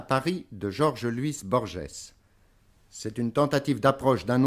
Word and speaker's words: Borges: prononcer votre nom en général chez moi on prononce Borges mais peut-être cette jeu offre quelques difficultés au